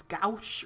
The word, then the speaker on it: gouache: It sounds like it would be pronounced as gash, but it's gouache or something like that.